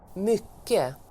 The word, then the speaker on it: mycket: Le mot du jour, c'est mycket. Et je vais te faire écouter la prononciation native. Mycket.